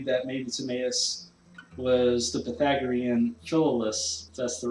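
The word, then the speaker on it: Philolaus: also a theory that maybe tomas the pythagorean philolis that's the right way to pronounce it who lived in the sixth century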